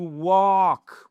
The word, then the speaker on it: walk: To walk, walk. Vous voyez que le L ne se prononce pas.